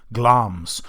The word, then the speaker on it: Glamis: He's Thane of Glamis, Glamis, but it's pronounced Glamis.